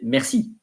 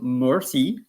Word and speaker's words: merci: And thank you or thanks, you say merci. So it's not mercy, because mercy is having pity, I think, or having, mercy is not merci, but it's probably originating for the same root.